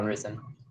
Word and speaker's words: Ris3n: Anyway, it's gonna be Sonic Aftermath against Ris3n. Is how you say that, right? Yeah, Ris3n.